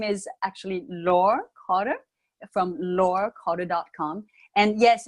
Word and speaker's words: Laure: And yes, it's oftentimes pronounced Laurie because the E at the end, but it's French. My first name is French, and it's the final E in French is always silent. So we pronounce it Laure Carter.